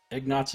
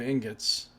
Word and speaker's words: ingots: Ignots is an inside joke. Well, it's just a deliberate mispronunciation of ingots.